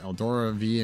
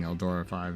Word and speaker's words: Eldora V: Isn't yours pronounced 5, though? Oh, it is. Oh, that's funny. Not even piloting Eldora 5 anymore.